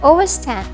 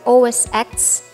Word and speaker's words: OS X: o s 10 because the x in os 10 is not the letter x but is the roman number for 10.